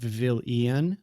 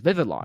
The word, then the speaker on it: Vivillon: So there's only two I's, so it's not Vivillon because Yeah. Vivilion would indicate ION. Yeah. So it's Vivillon, right? Vivillon. It's Vivillon. as phonetically as it sounds.